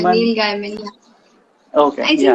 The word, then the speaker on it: Gaiman: Am I pronouncing it right? Yeah. Gaiman? Neil Gaiman.